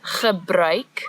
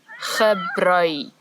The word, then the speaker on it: gebruik: So the word is gebruik, the ch sound as before, and now we've added a new sound, ui, ui, gebruik.